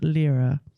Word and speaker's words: lira: This was 30,000 lira. Nice. Did I say it right? Lyra, yeah.